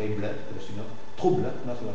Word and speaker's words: trouble: Es una sola sílaba. La muda final te parece que está susurrada porque hay ble, pero si no, trouble, una sola sílaba.